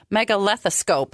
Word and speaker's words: megalethoscope: Now, I don't even know if I can pronounce this word right. It's called a megalethoscope.